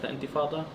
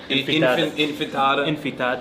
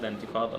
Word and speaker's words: intifada: Like now the media is mad about globalized intifada, or they can't even like pronounce it right. Yeah, Like, they say intifada, infitada.